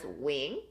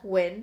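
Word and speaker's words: Huynh: I pronounce it as Wing, but some people pronounce it as Huyn.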